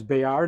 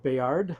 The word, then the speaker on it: Bayard: And it's Bayard, not Bayard. Okay. All right. Well, now you that's that's mo most most French nouns and names do not pronounce the last consonant.